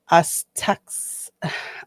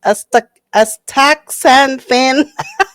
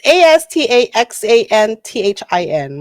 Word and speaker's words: astaxanthin: That's because during its production, synthetically manufactured Aztecs, I am butchering these words, astaxanthin. Oh, let me spell it to you. It's astaxanthin.